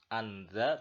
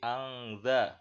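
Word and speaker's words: فأنذرتكم: Nah, contoh berikutnya fa'angzartukum ya. Ada nun sukun bertemu dengan za, tidak dibaca anza tapi angza ya.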